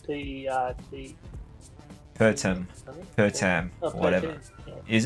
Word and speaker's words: Pertam: I thought I was reading it wrong because, yeah, like maybe I looked at a website that Pertum. couldn't spell. P-E-R-T-A-M.